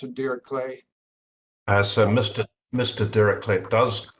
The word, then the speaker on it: Dirichlet: Dirichlet does pronounce it Dirichlet, but in America it's usually Dirichlet. We pretend it's French, which it is French, but he calls it Dirichlet.